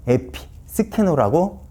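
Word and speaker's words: ἐπισκηνόω: 이 단어는 헬라어로 에피스케노라고 읽습니다.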